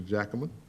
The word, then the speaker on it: Jackman: we'll start with commissioner jackman first of all can i ask you about my pronouncing your your name right yes sir the j is hard yes okay so uh yes